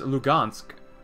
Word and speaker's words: Luhansk: Ooh, Luhansk. There you go. I think that's how you pronounce it. Because that says Lugansk, but it might be Luhansk.